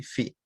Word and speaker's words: phi: Esto de acá se pronuncia así, phi. Se escribe phi, así PHI, pero se pronuncia phi.